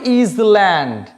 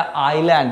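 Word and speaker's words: island: Next হচ্ছে এটাকে বলে ইজল্যান্ড। এটা থরি ইজল্যান্ড। ইজল্যান্ড বলে কিছু হয় না। এটা আইল্যান্ড। এখানে এস সাইলেন্ট থাকে।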